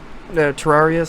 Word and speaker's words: Terraria: Terraria. Sorry, that's how you pronounce it.